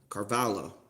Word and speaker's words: Carballo: Makes it a 3-1 count to Carballo. Carballo. Carballo. That's how you say it.